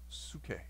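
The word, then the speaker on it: ψυχή: The Greek word there, it's spelled psyche, P-S-Y-C-H-E, pronounced psuche. Psuche.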